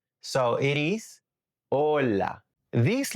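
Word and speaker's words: hola: If you pronounce the H in this word, native ears hear something else cuz remember the H in Spanish is silent. So it is ola.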